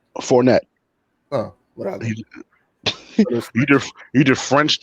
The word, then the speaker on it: Fournette: Is Fournette or Fournier? Fournette.